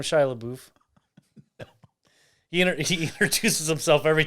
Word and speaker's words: Shia LaBeouf: one more time i i don't think that's how you say his name how you say it he says when he comes over he's like i am shia labeouf he he introduces himself